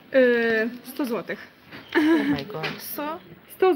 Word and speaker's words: złotych: How do you pronounce this? Zelari. 100 złotych.